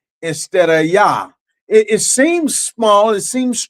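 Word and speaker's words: יה: That's why some people say Yahweh, some people say Yahwh, some people say Yahawah. But one thing that everybody agrees on is that first part of the name, Yah.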